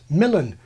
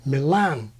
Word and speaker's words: Milan: used to be fully nativized Milan like MacMillan as in Shakespeare's was Milan thrust from Milan Milan but in more Modern English we put the stress where it is in Italian on the second syllable I say Milan as recently as the